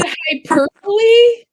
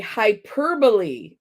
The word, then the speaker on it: hyperbole: hyperbowl isn't that Hy oh is it hyperboy ah Joe I'm sorry I've been saying it wrong okay what is a hyperbole thank you Jamie I